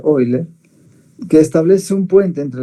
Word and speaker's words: Euler: relación de hoy leer se escribe euler se pronuncia hoy ley que establece un puente